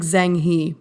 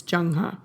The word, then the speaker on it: Zheng He: Asia and East Africa by the way it's spelled zhe e ng h e it looks like zheng he but i promise it's jang huh he traveled on the